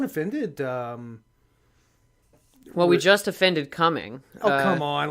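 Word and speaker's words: Cumming: not Talladega it's Dahlonega Alana go he's coming pronounced just straight up coming am I right about that yes it has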